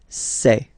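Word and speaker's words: ces: then set here and for the plural say say really open this e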